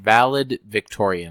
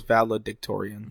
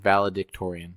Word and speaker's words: valedictorian: or valid valid if how do you say it I have no idea valid Victorian I think that's how you saying I thought it was valedictorian valedictorian that sounds better I like that one